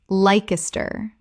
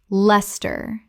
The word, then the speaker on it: Leicester: Lye-ces-ter. Correct pronunciation. Les-ter. Two syllables only. The i disappears entirely.